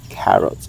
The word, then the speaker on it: carrot: When you pronounce the carrots, so the K should be inunciated very well. It should have a pop of air like this. K carrot. Okay. Just like the country of Canada. Canada.